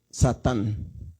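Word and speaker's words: שָׂטָן: Entonces dice Sa, aquí vamos a leer de arriba hacia abajo, Sa, luego Tan, Satán. Así es como se escribe Satán en hebreo.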